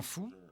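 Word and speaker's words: 蝠: Les chauves-souris, en mandarin fou, se prononcent comme le mot bonheur.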